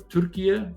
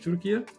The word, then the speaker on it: Türkiye: One was Turkey, or Türkiye, forgive me. I think that's how we say it properly now in English, Türkiye.